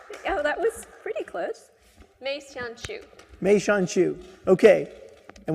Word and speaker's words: Mei Xian Qiu: Ladies and gentlemen, Mei Xian Qiu. Did I say it right? Oh, that was pretty close. Mei Xian Qiu.